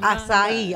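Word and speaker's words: açaí: How you pronounce it? It's acai.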